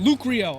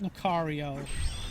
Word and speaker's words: Lucario: pick Lucario and yes I know it's pronounced Lucario come on come on man you know it's Lucario can't I just have